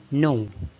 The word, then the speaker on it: know: عندنا number 4 know يعني يعرف، خلي بالنا انه الكي لا تنطق silent.